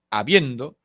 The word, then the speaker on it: habiendo: palabra habiendo por supuesto habiendo no es habiendo ni habiendo es habiendo el acento se encuentra en la segunda posición silábica esto es la penúltima sílaba no lleva tilde porque